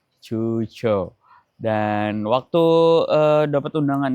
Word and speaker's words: Quzhou: diselenggarakan di kota Cuchou tulisannya Cuou Tapi ternyata sampai sini baru tahu bacanya itu cuco. Cu gitu, cuco.